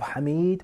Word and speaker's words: Hamid: We have Hamid, we have Humaid, and we have Humayid. All of them are spelt the same way, the same letters, but the pronunciation, the nutq, is different.